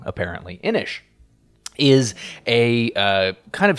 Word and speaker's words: Inis: how the game works inish which that is the correct pronunciation as a uh YouTube commenter informed me I was calling it inis and that's wrong apparently inish is a uh kind